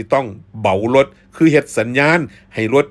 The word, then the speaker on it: เบารถ: เหมา รถ คำ ว่า เหมา รถ นี่ ออก เสียง ว่า เบา รถ ครับ เบา รถ หรือ สิ ว่า บ่าว รถ กะ ได้ ครับ อัน นี้ ก็